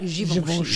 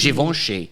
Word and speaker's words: Givenchy: Givenchy. Givenchy.